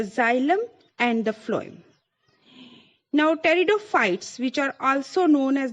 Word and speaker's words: pteridophytes: Here the spelling, as you can see, P-T-E-R-I-D-O and P-H-Y-T-E-S, and the word P is silent here, so we must pronounce it as the pteridophytes.